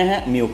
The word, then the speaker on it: Mu: ตรง นี้ นะ ครับ ตัว นี้ อ่าน ว่า บิล นะ Mu มิ้ว นะ มิ้ว 9 นั่น เอง โดย ไม่